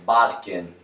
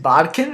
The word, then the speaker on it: bodkin: question of pronouncing a bodkin so is it bodkin or bokken oh there's a right answer we'll go with bodkin who would fardels bear